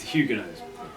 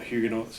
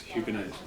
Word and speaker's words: Huguenots: Now, am I pronouncing the name correctly? Huguenots. It's Huguenots. Again, not Huguenots, Huguenots. A lot of people get it wrong.